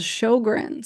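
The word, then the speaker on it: Sjögren's: I see a lot it's called shog it's spelled kind of funny it's SJ o g r NS but the main symptom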